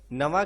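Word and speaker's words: Navarre: Catherine de Medici की बेटी Margaret of वेलोइस की शादी एक ह्यूगनोज नोबल प्रिंस ऑफ नवा के साथ की जा रही है। इसे हम नवा प्रोनाउंस करेंगे।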